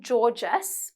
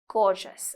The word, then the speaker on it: gorgeous: this one here is not Georges but it is gorgeous okay so some people